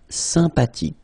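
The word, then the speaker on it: sympathique: Remember the ash h is not pronounced sympatic.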